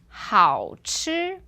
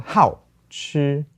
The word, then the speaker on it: 好吃: One was 好吃 is tasty, and then the other one 好吃. Yeah, the second one was 4th tone. 好吃.